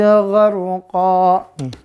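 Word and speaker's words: غرقا: Pertama di An-Nazi'at wan nazi'ati gharqa. Gorkon. Jadi gorko. Maka dia dibacanya apa? Ya, ingat kaidahnya. Kalau dia mat iwat maka jadi bunyinya Ya, fathah dengan alif. Gharqa. Gharqan tulisannya bacanya gharqa. Itu pemirsa ya.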